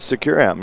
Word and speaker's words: Securum: And now we are here with Securum. Is that how we're pronouncing it? Securum, yeah.